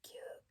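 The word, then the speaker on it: 休: It is written like that, and is pronounced Yasumu by itself and Q in compounds.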